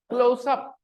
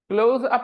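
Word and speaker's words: Close-Up: का नाम क्या है क्लोजअप क्या नाम है लेकिन सब यहाँ क्या बोलते हैं ठीक है लेकिन उसका असली प्रोनाउंसिएशन क्या है क्लोजअप क्लोज अप नहीं है क्लोजअप है क्लोजअप ओके तो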